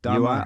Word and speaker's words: Dharma: I want to make, am I pronouncing Dharma correctly, first of all? Yeah, Dharma.